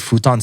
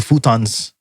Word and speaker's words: futon: And the mother was asking us if we wanted to get the futons so that we could lie down because we were really tired. But she pronounced it the Japanese way, which is futon.